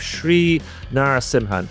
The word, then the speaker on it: Sri Narasimhan: With me today, I have Shri Narasimhan. Now, I checked that was the correct pronunciation of his uh of his name, and